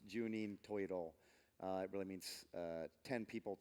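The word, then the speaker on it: 十人十色: would be different strokes for different folks it's pronounced juninho toy at all it really means ten people ten colors but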